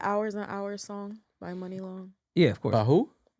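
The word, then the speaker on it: Muni Long: Her name is Money Long now? Yeah, but it's Mhm. spelled That's funny. M-U-I. M-U-N-I Long. Yeah, it's spelled differently.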